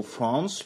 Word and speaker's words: France: En effet, le A du mot France va être prononcé comme le mot chance avec un A long, puisqu'il est suivi du son ns.